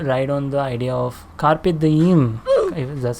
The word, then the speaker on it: Carpe Diem: in the present moment Carpe Diem Carpe Diem like an Instagram DM so Carpe Diem we're